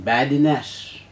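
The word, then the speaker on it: badinage: Uchayanam, badinash.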